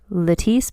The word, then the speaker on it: Lettice: It looks like lettuce with an I, but again, Lettice pronounced like the eyelash serum.